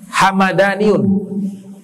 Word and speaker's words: Hamadani: Nah, belakangan dibacanya Hamadaniun. Hamadani, mimnya fathah. Kalau yang suku tadi mimnya sukun, Hamdani.